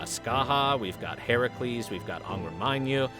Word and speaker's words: Heracles: reason it's really weird it's the same as calling Heracles Hercules Hercules is not the proper pronunciation of the name it's Heracles anyway